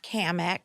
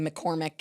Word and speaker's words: Cammack: be joined by congresswoman Kat kamek yes did I say it right Mack yes all right absolutely because people say your name wrong a lot right oh absolutely I'm to the point where I'm starting to say McCormick and Kim Mick I know well I'm